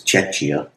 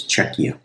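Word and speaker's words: Czechia: I also found out that I've been pronouncing that wrong. I thought it was Czecha, but actually the CH is hard in that. So, it's Czecha.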